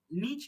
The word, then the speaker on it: NIC: आज हम लोग जानेंगे कि नीच क्या है। ठीक है, बेसिकली इसका जो प्रोनाउंसिएशन होगा, अपना जो प्रोनाउंसिएशन होगा वो कैसा होगा, हम लोग देख चुके हैं सर।